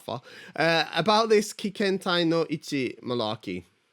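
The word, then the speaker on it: 一致: So it's not Ichi. Ichi. It means together, okay?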